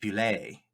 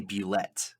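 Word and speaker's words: bulette: a land shark and it's supposed to be pronounced belay but i say bellette because it's spelt bullet i know what you're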